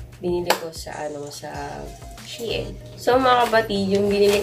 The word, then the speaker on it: Shein: Yung tamang pronunciation ng Shein ay Shein. Correct me if I'm wrong, pero yun kasi yung na-research ko guys. Hindi siya Shein, kasi dati ang tawag ko Shein.